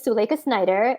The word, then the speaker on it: Suleikha Snyder: you well hi i am my name is suleika snyder it's a pen name which i'm sure we'll